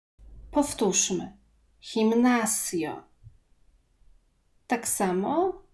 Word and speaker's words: gimnasio: Gimnasio. Gimnasio. G, jeżeli występuje przed E albo I, czytamy jak polskie H. Powtórzmy. Gimnasio.